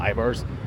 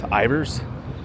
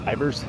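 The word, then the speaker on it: Ivar's: It's not Ivars. It's not pronounced Ivars. It's actually pronounced Ivers.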